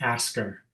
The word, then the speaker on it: ASCCR: if you pronounce this the way that we pronounce it is asker so it's kind of like ask her a question you know or ask